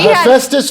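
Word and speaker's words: Hephaestus: do you say itest Festus and then she Festus for the restus so then she had yeah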